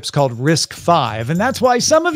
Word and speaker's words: RISC-V: want to use the arm instruction set whereas risk five is open you don't have to pay anybody